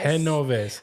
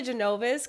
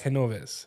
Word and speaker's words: Genoves: Henovves. I kept saying G like G, you know. Yeah. I always say Genovves cuz nobody can really pronounce it. But it's Henov.